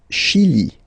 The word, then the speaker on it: Chili: Le Chili. Le Chili. Okay, remember, CH, sh.